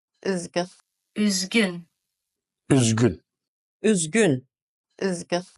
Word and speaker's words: Üzgün: Üzgün. Üzgün. Üzgün. Üzgün. Üzgün. Üzgün. This is a similar sound to the sound that is in the middle of the word few in English. Few.